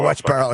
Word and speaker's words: Westboro: We had a local soldier that passed away over there in overseas, and Westboro Baptist Church had tried to come in, apply for permits. Or did I say it right? No, Westboro.